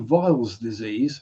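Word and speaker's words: Weil's disease: space as well there's a certain disease called viles disease spelled with the w w e i l s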